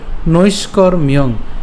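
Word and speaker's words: নৈষ্কর্ম্যং: উচ্চারণটা কেমন হবে অনারম্ভান ঠিক আছে অনারম্ভান এরপর নৈষ্করমিয়ং এর উচ্চারণটা কেমন হবে নৈষ্কর্মিয়ং অর্থাৎ আমরা এখানে মূর্ধনস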